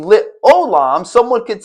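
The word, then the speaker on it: עולם: It says Ze shmi lit olam, with Ze zikri lit dor. Notice without the vowels, one might pronounce it as lit olam, but someone could come in and say lit alam.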